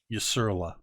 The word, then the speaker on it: Usurla: can't see the chat here's the pronunciation it's y-s-u-r-l-a usurla ah spectacular so we're